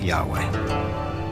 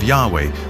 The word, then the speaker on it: Yahweh: and his name was these four letters which in English would be y-h-w-h which we think were probably pronounced something like Yahweh but Yahweh only appears